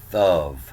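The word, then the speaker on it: טוב: So the reason this was called the good book is right here, is good, thub or thuv. Sometimes they pronounce this B with a V.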